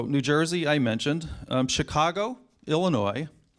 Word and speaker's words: Illinois: Jersey I mentioned Chicago Illinois please don't pronounce the S New York we matter